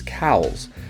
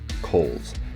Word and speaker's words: Cowles: normally here this is cows but it's actually mispronounced by all of the locals and it is Kohl's like you're mining coal this Trail was about